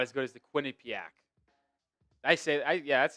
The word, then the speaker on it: Quinnipiac: It's not as good as the Quinnipiac.